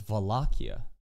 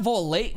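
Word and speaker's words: Vollachia: No, it's Valakia. It's not Volate.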